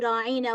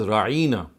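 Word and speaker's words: راعنا: They would lay more stress on the word ain, and instead of pronouncing it as ra'ina, they would say ra'ina.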